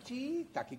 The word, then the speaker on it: shiitake: ¿Y sabe cómo se dice shiitake? Shiitake. Shiitake. Chiitaki. Exactamente, chiitaki, como lo dicen los chinos. Los chinos lo dicen así, nosotros no podemos cambiar.